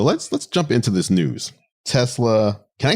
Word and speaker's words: Tesla: does and everyone else, you need that hard Z sound in there. So it's Tesla.